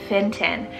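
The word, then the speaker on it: Fintan: list we have the name finton cell f-i-n-t-a-n finton now this one's an irish rooted name meaning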